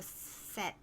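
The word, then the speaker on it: 셋: these words for example number three i have written set but it's not with a strong tea right is it for strong tea ah yeah no it's a set like a like a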